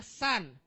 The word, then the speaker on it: Sun: matari namanya San bacanya San deson saya ajarin ya Matar itu tulisannya Sun Tapi bacanya San Oke walaupun tulisannya beda